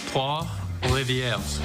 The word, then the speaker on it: Trois-Rivières: The team decided to have a little fun with them, getting them to try to pronounce Canadian places. Trois-Rivières.